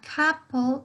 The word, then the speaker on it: couple: Si ustedes escuchan entre esa O y esa U, tenemos un sonido de A, ¿sí? A couple of long weekends.